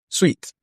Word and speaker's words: suite: sweet suit is pronounced as sweet.